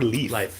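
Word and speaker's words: Lyfe: Uh, 14 track 14 called It's My Time with Is it pronounced life or leaf? Life Jennings.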